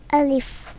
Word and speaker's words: আলিফ: আলিফ আলিফ এই আলিফ উচ্চারণে কোন টান হবে না।